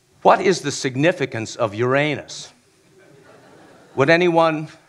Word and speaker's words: Uranus: I keep repeating the name of that planet, with particular emphasis on its second syllable, concluding with the question, what is the significance of Uranus?